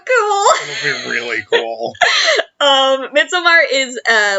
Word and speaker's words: Midsommar: If people have seen Midsommar, and we refuse to pronounce it Midsummer, it's spelled Midsommar. It's Midsommar. That's the cosplay I'm working on until, like, March.